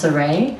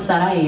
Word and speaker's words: Sarai: One is in Hebrew and it is pronounced Sarai, and then one is Hispanic and it's pronounced Sarai. So I stuck with Sarai as my artist name and I added Wild